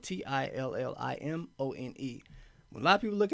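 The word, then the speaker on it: Tillimone: a 2016 called till I'm on E so it's spelled t-i-l-l-i-m-o-n-e a lot of people look at the name they don't really know what it is because it's just it's telemone tell them they don't know how to pronounce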